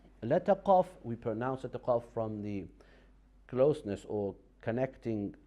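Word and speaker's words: قاف: When we connect the root of our tongue with the uvula, that is the pronunciation of letter qaf.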